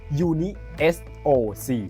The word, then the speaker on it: UNISOC: Uni SOC นะ ครับ อ่าน ออก เสียง แบบ นี้ นะ ครับ ว่า Uni SOC นะ ครับ เขา นะ